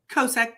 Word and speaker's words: Kosek: Kosek, K-O-S-E-K.